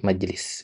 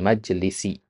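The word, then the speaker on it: مجلس: enak ya daripada majel majelis gitu kan. Nah, makanya terbawa itu di teks ini tadi antum bacanya kafaratul majelis dipanjangkan ya padahal itu kurang pas. Yang benar kafaratul majlisi atau majelis.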